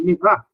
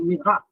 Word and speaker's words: Murat: reformas, como em 1858, de Mirat, se escreve Murat, quando vocês verem escrito, é um Mirat.